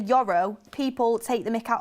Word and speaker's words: Yoro: A lot of people are talking about my pronunciation, Yoro.